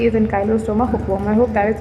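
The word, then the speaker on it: Ancylostoma: Where as the next A stands for एन काइलोस्टोमा। इट्स नॉट एन साइक्लोस्ट stroma. If you read the spelling carefully it's an Kylo and नॉट एनसाइक्लो।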